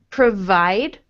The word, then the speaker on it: provide: Now, your V is more like the W sound in that word. Okay. So, with the V sound, I want you... So, with the W sound, the sound that you are making is more like provide, but we want provide.